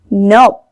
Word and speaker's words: knob: KN makes N sound. It means K is silent. We don't read it like knob, knit, knife, knock.